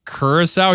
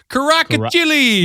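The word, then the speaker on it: Curaçao: He's just Did you hear him try to pronounce like Kurissau? He was like Karacili.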